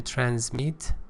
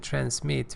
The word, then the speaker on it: transmit: to say about that transmit British pronunciation transmit with z and American pronunciation transmit with SE send over pass on